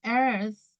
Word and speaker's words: earth: We have the sun, we have Mercury, Venus, Earth, Mars, Jupiter, Saturn, Uranus, and Neptune. So this word, where do we live? We pronounce like earth, like earth. You need to like a blowing.